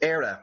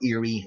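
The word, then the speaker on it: Éire: was referred to at the time uh was era not eerie like you were saying which is i presume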